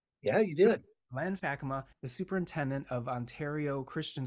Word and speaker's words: Fakkema: Len faka and he is the did I pronounce it right yeah you did Len faka the superintendent of Ontario Christian schools in beautiful